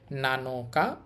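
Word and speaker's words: 七日: আর এটা হচ্ছে তসু নানাতসু নানাতসু অর্থ হচ্ছে সাতটি এরপর দেখেন এইটা হচ্ছে নানো এখানে উচ্চারণ হবে আবার নানো নানো আর এটা হচ্ছে কা ওইটা দিয়ে তারিখ বুঝায় নানো কা অর্থ হচ্ছে সাত তারিখ নানো মানে সাত আর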